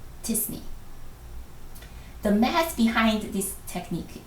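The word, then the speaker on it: t-SNE: pronounce this acronym and the majority opinion is to pronounce it like a word disney the math behind this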